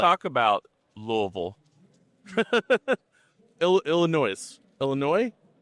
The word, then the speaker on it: Louisville: talk about Louisville. Illinois. Louisville. You have to say it like you have a bunch of marbles in your mouth and a 7th grade education.